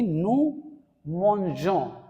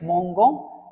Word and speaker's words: mangeons: But if you are writing like this GE, it becomes je. So the right pronunciation would be nous mangeons. And if you don't give this E, if you write like this mongon, this will be pronounced as mongo, and that is wrong pronunciation.